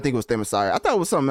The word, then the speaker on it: Themyscira: Yeah, Themyscira. There you go. I was definitely gonna butcher that. So I did not think it was Themyscira.